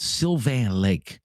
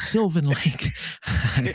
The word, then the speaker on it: Sylvan Lake: And when I first started taking your calls, I was calling it Sylvan Lake, like French, you know, Sylvan Lake. And my wife gave me heck. She said, "You're saying it wrong, Rob. It's not Sylvan Lake. It's Sylvan Lake."